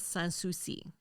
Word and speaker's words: Sans Souci: Well, you know, for pronouncing it here in the South, it is a little bit more Southern sounding. Is it Suchi, though? La Place Sans Souci.